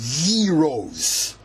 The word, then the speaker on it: gyros: That's pronounced gyros.